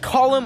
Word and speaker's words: column: I get cancelled because I've said the N in autumn or the word column or the word am